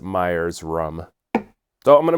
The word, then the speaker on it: Myers's: notice that first that there is an extra s in there so it makes me think of Gollum in The Lord of the Rings Myers's I think you're supposed to just pronounce it Myers rum so I'm going